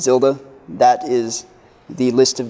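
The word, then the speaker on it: ⍬: three dimensional empty array this zero with a total through it that's pronounced tilde that is the list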